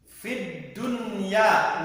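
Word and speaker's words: الدُّنْيَا: Kecuali satu kata, fid dunya, nggak boleh dibaca digongkan, fid dunya nggak boleh, tapi nunnya dibaca fid dunya, ini ada pengecualian kalau satu kata.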